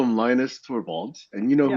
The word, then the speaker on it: Linus: Mm, But anyway, I found out that the correct pronunciation of his name is, I believe, something, and I'm going to butcher this, but it's Linus, not Linus.